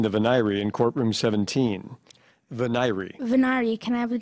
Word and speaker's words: venire: Veneri, are there any alternate pronunciations? Veneri.